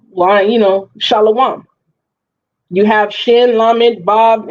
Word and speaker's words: shalom: Shalom. That's where we're getting shalom. So when people say shalawam, what they're doing is adding a vowel for the shin.